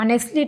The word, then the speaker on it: honestly: ऑनेस्टली HONESTLY है, लेकिन हम इसको पढ़ते हैं ऑनेस्टली, टी हमारा साइलेंट रहता है।